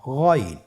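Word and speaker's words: غين: আমরা অনেকে বলে থাকি গাইন, না, এটা ভুল উচ্চারণ। এভাবে উচ্চারণ করা যাবে না, যেহেতু হরফটি মোটা, এই জন্য মোটা করে উচ্চারণ করতে হবে গইন।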